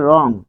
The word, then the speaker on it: রং: যেমন রং, এটির উচ্চারণ হচ্ছে রং, হসন্ত দিতে হবে, হসন্ত না দিলে ভুল হবে।